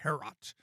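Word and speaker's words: Heorot: How do you pronounce the mead hall? Herot or Herot? Herot, yeah. Herot.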